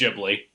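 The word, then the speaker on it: Ghibli: like all the studio gibl movies or whatever that's pronounced yeah I think it's jibi yeah okay uh but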